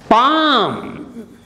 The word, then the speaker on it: palm: Palm, the inner side of the hand.